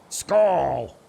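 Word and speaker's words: skål: is from norway and he's saying pronounce it school yeah so a you as in poor school skull is that right it's almost like a skull actually scroll skull is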